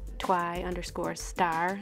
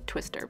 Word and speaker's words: TWI_STAR: You can follow me on Snapchat at @twy_star. That's actually how you say my name. It's Twy Star. I know some people have said it Twister, but it's Twy Star.